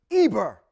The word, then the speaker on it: Eber: That's connected to a person named Eber. When you look in the Torah scroll and it's spelled Ayin Bet Resh.